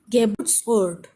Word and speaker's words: Geburtsort: Geburtsort. Geburtsort. There are three syllables, but the stress is on the middle one. Burt. Geburtsort. Geburtsort. So the stress is on the second one.